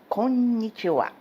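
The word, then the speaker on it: こんにちは: vocês podem reparar que ele termina com ra, mas na verdade este ra é uma partícula que em japonês se pronuncia wa. Por isso que se lê conntiwa.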